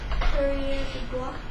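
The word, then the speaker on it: coureur des bois: Can you pronounce that for me? Courrier de bois.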